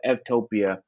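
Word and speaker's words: eutopia: pronounced as a v so instead of u it's ev and so f topia is a is a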